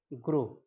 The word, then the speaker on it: gros: In French, in masculine form, we pronounce it gros, GROS, gros.